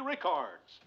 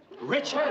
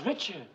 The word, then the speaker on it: Richards: luck to our own Mary Ricards. Richards. Her name is Richard. It's my fault. It's all my fault. Why your fault? Well, I wrote the whole speech out phonetically except for Mary's name. How'd it sound, boys? Rickards. You said Rickards. I don't get your point, Mr. Her name is Richards.